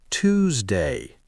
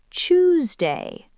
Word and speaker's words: Tuesday: Americans often say Tuesday. And many British speakers say Tuesday.